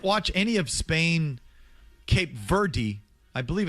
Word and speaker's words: Verde: If you Google it and you ask for the pronunciation, Verde. Like the bird, Verde.